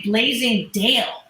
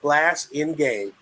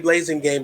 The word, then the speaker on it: Blasingame: I want to say Blazing Dale, which is, I've heard that before, right? But, Dr. Marissa, it's pronounced exactly how it's spelled, Blasingame. Or you can say Blasingame like my northerner friends do.